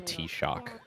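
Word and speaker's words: Taoiseach: It's the tea shock. It's an Irish term that means like chief, like chieftain of a tribe. Oh. And it's spelled like Tao Seach.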